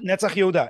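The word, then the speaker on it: נצח יהודה: Netzach Yehuda. Yeah. Yeah, no, I put the accent on the wrong syllable.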